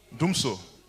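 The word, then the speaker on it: Dumsor: know in Ghana um DMSO has also did I pronounce it well dumps Doomso dooms doomso yeah in Ghana doomso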